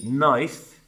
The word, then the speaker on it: knife: understand that for example in English if I say knife it's spelled with a silent k we never use that K now you may have